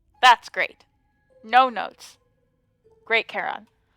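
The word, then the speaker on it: Charon: great no notes great Caron which I have never ever ever once in my life heard pronounced coron I think that's just wrong um foreign is he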